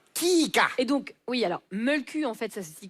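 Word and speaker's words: Mölkky: Et donc, oui, alors, Mulku, en fait, ça se dit comme ça en finlandais. Et ça s'écrit avec un i.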